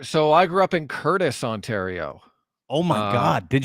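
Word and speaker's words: Courtice: like Pickering Ajax ashaa Curtis if you will that's right and Curtis isn't spelled like Curtis's name it's like CTI it's most up way to spell Curtis of all time so you're a Curtis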